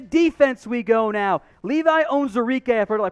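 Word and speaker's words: Onwuzurike: comments section to defense we go now levi owns eureka i've heard i pronounced like four different ways i am confident though that his owns enrique out of washington another opt-out for the 2020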